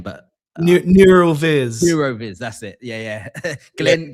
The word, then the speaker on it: Neural Viz: Not Meta Puppet, but that I can't remember the name, but Neuroviz. Neuroviz, that's it. Yeah. Glenn knows Neuroviz, yeah. Neural Viz, as it's pronounced.